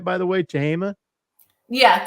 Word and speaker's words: Tehama: Travis, this is at in Red Bluff, California at the, did I say it right, by the way, Tehama? Yeah, Tehama County Fairgrounds.